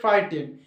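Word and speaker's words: frighten: ফ্রাই আর টি এন ডি 10 টোটালটা হচ্ছে ফ্রাই টেন যেহেতু টি এর আগে জি এইচ আছে জি এইচ এর উচ্চারণ হয় না এটুকুন বুঝে গেলে তাহলে ওদিকে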